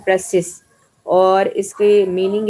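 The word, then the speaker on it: précis: ठीक है, तो इसका ये प्रेसी जो है, ये एक फ्रेंच वर्ड है, फ्रेंच लैंग्वेज से डिराइव किया वर्ड है, प्रेसिस, जिसका मतलब है, और ये वर्ड जिसका यानी उसकी प्रोनाउंसिएशन है प्रेसिस, और इसकी मीनिंग है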